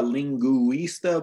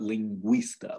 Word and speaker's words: lingüista: Another time it can produce that W-like sound for us is if it has the two little dots over the U, okay? So here we have lingüista or bilingüe. Got it, lingüista and bilingüe. Yeah, so it's not a lingüista, but lingüista, like it just merges it into one syllable.